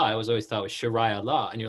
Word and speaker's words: Sheria: you're trying to teach us people how to pronounce it and you're saying it's like sure and i read sharaila i was always thought with sharia law and you're like it's sharia like shirai